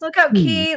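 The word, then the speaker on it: Lookout Cay: Pam, do you know, is there anywhere on Lookout K that is like a... it is people. It's Lookout Key.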